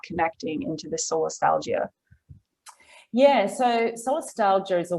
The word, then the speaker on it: solastalgia: So there's this word that I'm going to pronounce it wrong. Solastalgia?